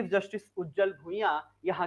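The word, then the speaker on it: Bhuyan: पर एन भी हैं ठीक है तो उज्जल भुइया जो है ये यहां के क्या है के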